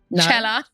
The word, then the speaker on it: Cela: Cela. What I knew I was going to say that. And it even says, pronounce Cela, like Coachella.